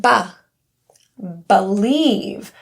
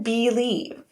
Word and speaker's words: believe: The be is a prefix, meaning it's something that we can add to many words like because or before. And this prefix it's since it's unstressed the vowel can be that was weird can be reduced to awah. So it can sound like b believe rather than believe.